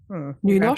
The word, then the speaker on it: Nynorsk: That's the old book language, and Nynorsk.